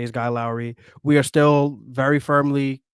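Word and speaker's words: Lauri: it wrong it's not Lori Markin my mom's name is Lori so I'm pronouncing it Lori but it's you said guy Lowry like he rhymes with Kyle Lowry and so I was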